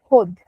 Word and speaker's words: Hod: just said to Vincent the correct pronunciation of our name is HUD that is how we